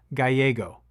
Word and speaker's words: Gallego: It's Gallego, Ruben Gallego. These two are not natural allies.